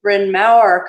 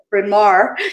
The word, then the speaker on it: Bryn Mawr: from John that my institution should properly be pronounced Bryn Mawr College but we call it from our College in the United States in Philadelphia and